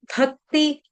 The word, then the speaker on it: भक्ति: प्रियो नरः, भक्ति, भक्ति भ भालू वाला, भ के ऊपर आघात, आधे क का, भक्ति, भक्तिमान में प्रियो नरः।